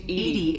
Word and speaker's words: EDI: why are you named edy is the phonetic pronunciation of EDI that is an acronym for enhanced defense intelligence okay now we can